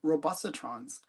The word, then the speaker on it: Robustatrons: is the creator of Robustatrons. And hopefully I said that right. We'll find out. I'll bring him in right now and we'll find out. Did I say it correctly? Oh yes, you did indeed.